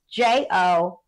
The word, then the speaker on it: Jophiel: It's Jophiel. Some people spell it Joffiel.